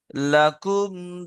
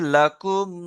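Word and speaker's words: لكم: শেষের আয়াত হলো লাকুম দীনুকুম ওয়ালিয়া দীন। এখানে একটু বানান করে দিই। লাম জবর লা, কাম মিম পেশ কুম, কি হবে? লাকুম।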